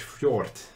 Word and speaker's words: fjord: view of a large fjord. Oh, wow. How do you say that? Fjord. Fjord. Fjord. You no, see a large no fjord. D. No D. Just, oh, look, just guys. Fjord. It's a fjord.